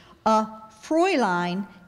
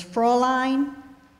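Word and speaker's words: Fräulein: woman especially of Germany are there any alternate pronunciations there's Fraulein and for line could you repeat the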